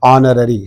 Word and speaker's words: honorary: is there okay uh honorary H is silent we are pronouncing the word from o o is giving a Vel sound and that's why use we use an before that an honorary chairman or president okay